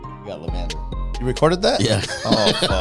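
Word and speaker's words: La'Vender: You said it absolutely wrong. It's lavender. Lavender. It looks like it means like. No. I understand. I put an accent to it, dog.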